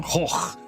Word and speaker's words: Gogh: Like Vincent van Gogh. No, it's Vincent van Gogh. Got any more fun words for the Dutch to pronounce?